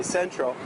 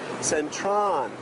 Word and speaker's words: Central: We say Central, but because the way they spell that in Thai language, the letter L in Thai language becomes the sound of a letter N. So you'll hear Thai people say Centron.